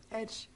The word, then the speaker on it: Ege: Hvordan uttales Ege på engelsk? Edge.